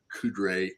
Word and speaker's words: Coudray: the name right because we always want to put an extra R in there yes yes it's not